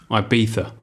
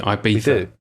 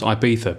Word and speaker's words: Ibiza: load of abuse for saying um ibiza oh instead of ibiza because apparently all english people say i beat it yeah yeah which is i thought how spanish people pronounce ibiza but apparently europeans laugh at english people what's it supposed to be ibiza i beat sir i thought actually what are they saying is they say i beat it today that's what